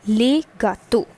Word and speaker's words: gâteaux: This le gets converted into le, and this becomes les gâteaux. That is, the pronunciation for the singular and the plural remains the same, but the spellings gets converted, they gets changed.